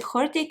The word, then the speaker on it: Hortik: It comes from Latin hortus with H, a silent H in front, or maybe they read it actually hortus, could be. So I call it hortik with H in the beginning, and it is a very botanical design.